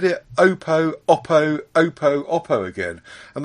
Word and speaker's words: Oppo: I've always said that um opo should be pronounced Oppo based on the fact that we had someone on the show on PSC one time who worked for Oppo and he called it Oppo and so I've